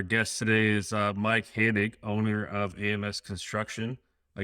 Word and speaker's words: Hannig: number four our guest today is uh mike hanig owner of ams construction i guess i didn't ask you about the pronunciation which i normally do is did i